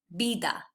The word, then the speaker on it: vida: We know from the previous slide that that's pronounced B. Then there's the I, but in Spanish that's always I. So the word for life in Spanish is pronounced vida.